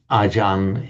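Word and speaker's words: Ajahn: That's how it doesn't look like it on the face of it, but Archaria in Sanskrit acharia in parley acharia becomes ajan in the in the Thai pronunciation.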